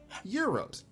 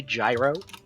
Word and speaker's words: gyro: prepares Euros excuse me you're you said it right well yeah yeah yay you know how many people say gyro touche a lot I want the gyro I also uh lived I I was born and lived in uh Ohio a lot of my life uh often on and Ohio has quite a few Greek ve uh festivals so you know I'd learned how to say it properly that said there is